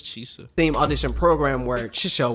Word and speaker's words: Chisa: He pronounces it Chisa. I thought it was Chisa.